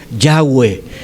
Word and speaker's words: Yahweh: Y entonces la manera más fácil de decirlo es Yahweh.